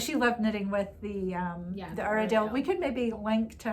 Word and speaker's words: Uradale: We're calling it Uradale because Ronnie himself told us that's how it's pronounced. We were all calling it Uradale.